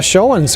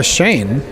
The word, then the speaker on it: Schoen: Leanna Schoen's going to check in for Coach Linsmeyer. Number 31, Leanna Shane. Make that Leanna Shane. As Jenna makes a pair. Shane is spelled S-C-H-O-E-N. Hendrickson with a foul.